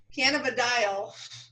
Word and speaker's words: cannabidiol: Cannabidiol. Carrie and I fought about how to pronounce that in the beginning because I didn't look up the pronunciation, and she's really good about that.